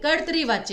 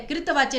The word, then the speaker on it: कर्तरी वाच्य: क्रिया बदल गई, तो यहाँ पर आपका फिर कर्तरी वाच्य आएगा। और इसका उच्चारण क्या होता है? कृतवाच्य नहीं, कर्तरी वाच्य, कर्तरी।